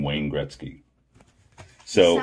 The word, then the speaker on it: Gretzky: Wazane Grinsky? What? How do you say it? Wazane Grinsky? Take another look. Wayne? Wayne. Gretzky?